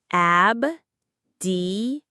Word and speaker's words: abdication: Abdication. The stress is on the K syllable.